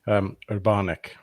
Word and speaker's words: Urbanek: Still butchered that pronunciation. I'm really sorry, Anna, if you're watching. Urbanek. There we go. I remember now.